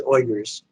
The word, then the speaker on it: Uyghurs: The correct pronunciation is Uyghurs.